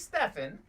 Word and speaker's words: Stephen: stephen another stephen well he's stefan but some people mispronounce it it's steven stefan curry breaking the all-time